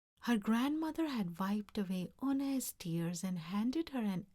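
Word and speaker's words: Unhei: "Oo-ne?" the girl asked, scrunching up her face. "Oo-ne?" some kids chanted. No, Eun-hye corrected. "It's spelled U-N-H-E-I. It's pronounced Eun-hye." "Oh, it's you-hey," the boy said.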